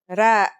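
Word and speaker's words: ر: Our first letter is ra. Its closest English counterpart is the letter R, but it's a different sound that must be learned.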